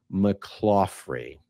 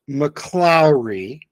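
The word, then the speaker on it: McClaughry: about Virginia and Mike mrey seriously is this just more gatekeeping well number one it's pronounced mlau and Virginia and Mike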